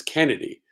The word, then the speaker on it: Kenadi: It's Kennedy, but it's spelled Kenadi, Kennedy.